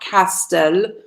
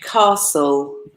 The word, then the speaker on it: castle: It's not castel, but castle. The T is silent, mute.